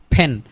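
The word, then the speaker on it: pen: ফ ফেন ফেন, আমরা কি উচ্চারণ করবো? এটাকে ফেন উচ্চারণ করব। ফেন ফেন, আমরা পেন বলবো না, ফেন।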